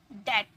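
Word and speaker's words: debt: है ना ऐसे हम बोलते डेप डेप्ट नहीं डेट ट डेप्ट नहीं बोलना है ओके चलिए नेक्स्ट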